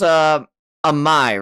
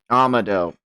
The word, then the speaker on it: Amado: And this is, Amai, right? I'm getting his name right? Amado. Shit, I got his name wrong.